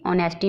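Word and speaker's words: honesty: ऑनेस्टी, ऑनेस्टी में H silent है।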